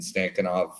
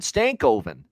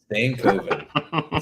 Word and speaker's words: Stankoven: may end up doing come on Matt we got to get you to pronounce that properly he's on your team for crying out loud stankoven there you go stankoven sorry he's on your